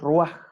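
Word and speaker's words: רוח: el ruaj de Dios. Los hebreos no pronuncian la R como la pronunciamos nosotros, sino que ellos la pronuncian como los franceses.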